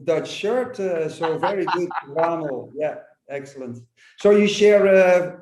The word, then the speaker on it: Wamel: Even that pronunciation was better than the Dutch shirt. So very good, Wamel.